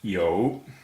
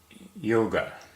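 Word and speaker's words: 有: The first one we're doing is yo. In Pinyin it's spelt Y-O-U, and it's pronounced like the first half of yoga.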